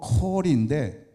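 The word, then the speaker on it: קוֹל: 여기 음성은 원어로 콜인데 우리 영어의 콜과 발음이 똑같습니다.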